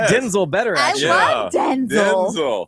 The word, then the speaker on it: Denzel: My name's not pronounced Denzel. My name's pronounced Denzel.